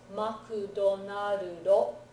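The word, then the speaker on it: マクドナルド: So it comes out as makudonarudo.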